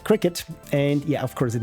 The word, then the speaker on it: Cricut: think for the longest time I called it cry cut until Frank said it's probably pronounced like cricket and yeah of course it makes sense that it's pronounced like cricketut.